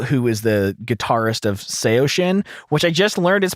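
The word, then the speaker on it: Saosin: away beau burchell who is the guitarist of seo shin which i just learned is pronounced seo shin which is like a derivative of a chinese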